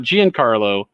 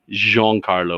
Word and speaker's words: Giancarlo: status as uh giancarlo it's not giancarlo i've asked his rep several times to make sure i don't mispronounce it jean carlo with a little flare say with a little